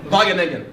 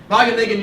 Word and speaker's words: Wageningen: It took me about 10 years to learn how to say this, and I may still get it wrong, but Wageningen. All right, Wageningen University in Holland is